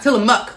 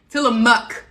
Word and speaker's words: Tillamook: mook not well no not tell them muck i'm saying see i'm saying it wrong til a muck okay so with tillamook